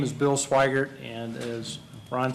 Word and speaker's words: Swigert: be answered by either matt steckler or william swigert did i pronounce it correctly yes okay thank you matt